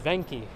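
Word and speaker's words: Venchi: spot for ice cream and other things not pronounced Veni as I once thought it's Veni it's Italian but it is Veni ven C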